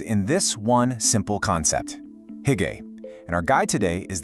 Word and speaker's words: hygge: Okay, first things first, you pronounce it hygge.